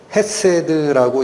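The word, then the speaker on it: חסד: 자비의 사람들이라는 것은 자비에 초점을 맞추셔야 되고, 이 자비가 히브리어 원문으로는 헤세드라고 읽히는 단어입니다.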